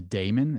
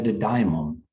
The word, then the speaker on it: daimon: But he talks about, and I always mispronounce this, but it's the daemon. Is that how you say it? Yeah, it's the daimon. Daimon. I always say daemon.